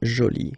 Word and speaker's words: jolie: Okay, so you can see that you put this E but then you don't pronounce it. Okay, so it's joli. So basically the two adjectives, masculine joli and feminine jolie, are pronounced the same way.